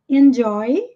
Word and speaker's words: enjoy: joel enjoy your meal enjoy aqui nós temos o j com som já enjoy your meal inglês